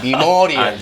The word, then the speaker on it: memorial: 그러나 이음절의 액센트 갈 때는 메모리얼이 아니고 미모리얼 데이.